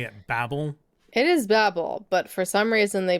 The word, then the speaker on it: Babel: It is Babel, but for some reason they pronounce it Babel.